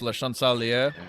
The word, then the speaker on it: Le Chancelier: I believe it's pronounced Le Chancelier. Okay, thank You're supposed to not pronounce half the vowels, I think.